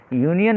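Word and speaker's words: union: यूनियन में यू ये की ध्वनि दे रहा है अर्थात कॉन्सोनेंट की ध्वनि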